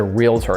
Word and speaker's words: realtor: known as a realtor it's not a realtor by the way you knuckleheads that call it a realtor that's not a real word you made that up because you don't know it's actually pronounced real tor so real estate agent